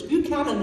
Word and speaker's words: Buchanan: was there yesterday I even learned how to pronounce it until its Buchanan Street not quite what I was saying but